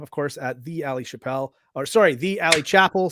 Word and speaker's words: Chappell: Like, because Dave Chappelle was very famous, everyone's like, "Oh, your name is pronounced like his," and I'm like, "It's not.